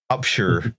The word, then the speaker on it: Upshur: and din witty uh upshur upshur i'm sure oh no it's not shire it's sure new hampshire yeah i